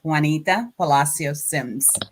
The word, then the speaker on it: Juanita Palacios-Sims: And the pronunciation is Juanita PALACIOS-SIMS.